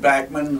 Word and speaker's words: Bachman: I thought it was Bachman, but yeah. He said Backman was the way the family pronounced it, but he said, tell